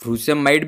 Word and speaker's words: frusemide: इसके दो प्रोनाउंसिएशन है, इसको आप फ्रूसेमाइड भी बोल सकते हैं या फिर फ्यूरोसेमाइड भी बोल सकते हैं। तो ये आप इसमें कन्फ्यूज़न होने की ज़रूरत नहीं है, ये दोनों सेम ही है।